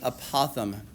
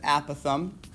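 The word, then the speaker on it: apothem: this word called the apothegm. Okay, some people pronounce it apothegm. Some people pronounce it apothegm. You can pronounce it however you want. Okay, I know one sounds silly and one sounds even sillier, but the apothegm is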